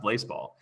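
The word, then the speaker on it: Blaseball: I'm going to turn to, I don't know how, nobody knows how to pronounce Blazeball. It's pronounced Blazeball.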